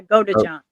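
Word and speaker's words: Godejohn: Her ex-boyfriend, Nicholas Gojan, I never could say his name right. I think it's Gojan. Yeah, go to John.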